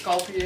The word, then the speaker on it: Sculpey: This is the kind we use, the sculpt, how do you say that? Sculpey. No, it's Sculpey air dry clay.